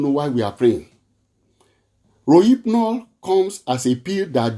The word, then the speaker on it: Rohypnol: As I have to take time to go and study it, because Rohypnol, Rohypnol, Rohypnol, that's the pronunciation, Rohypnol.